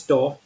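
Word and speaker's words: tau: substitute e okay and last one is to or tow whatever you can pronounce some people call it to I find it really we to say to so I just say tow so tow or tow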